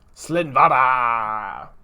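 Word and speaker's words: Slinn Voda: Slinvada of the Risen Deep.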